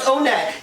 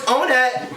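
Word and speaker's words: Onett: It is pronounced Onet. You can't dispute me on this. So it's Onet, Tucson, Threed, and Forside.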